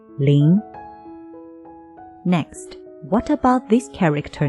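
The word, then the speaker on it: 林: that covered with the Thick Growth of trees pronouncing lean next what about this character now more trees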